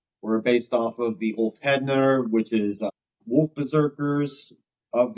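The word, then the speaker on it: Úlfheðnar: So the song Ulf Hednar, if I'm pronouncing that right?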